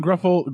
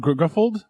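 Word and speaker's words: Gruffudd: Ian Gruffold? Grufford?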